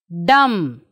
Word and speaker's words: dumb: not pronouncing thumb tome dumb climb so what do you observe children here yes b we are not pronouncing see b is not pronounced after m at is not pronounced